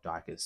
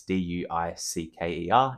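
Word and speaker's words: Duiker: brilliance, the entirety of Dyker's story. And yes, that pronunciation is wrong. I believe Stephen Erickson says it's Duker, but it's Duicker, and that will forever be Dyker in my brain.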